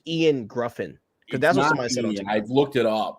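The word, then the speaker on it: Ioan Gruffudd: Gruff or gr grind I'm pretty sure it's Ian grffin that's I've looked it up it's it's yoan yoan yoen grffin I know it's so annoying yeah yo we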